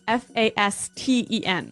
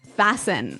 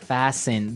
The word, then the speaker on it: fasten: interesting yes it's spelled f a s t n right so it would be Fast N no no right fasten fasten the T kind of becomes silent so it's fast yep